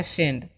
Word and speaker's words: send: अब जो वर्ड है आप लोग देख सकते हो क्या लिखा हुआ है, SEND, है ना। तो एस का जो उच्चारण है दंत से करेंगे और ई का उच्चारण एकले, और एन से अनुस्वार, और डी से क्या होता है, ड होता है। तो सेंड।